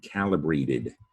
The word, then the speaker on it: calibrate: It's easily confused with celebrate, but that would be if you confuse the C as a soft C sound. Celebrate has the soft C because the C is followed by an E, and that's the rule about C. Celebrate. Calibrate, C's followed by an A. Calibrate, hard C.